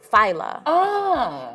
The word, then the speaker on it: Fila: So my name is spelled like Fila, but it's pronounced Fila.